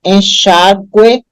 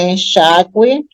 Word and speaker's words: enxágue: A mesma coisa, enxágue, né? O U é pronunciado, então saiu o trema, hoje em dia é sem U, fica enxágue.